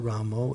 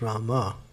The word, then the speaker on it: Rama: what is this ramo it's not ramo it's rama because in bengal if you're bengal we'll let you do it because bengal you know bengalis always change the a to o they do that with